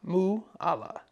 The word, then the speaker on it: Mualla: This is a Mualla, pronounced like koala, Mualla.